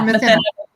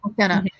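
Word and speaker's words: Mathinna: Do you pronounce it Mathena? Yeah, Mathena. Yes. Mathena.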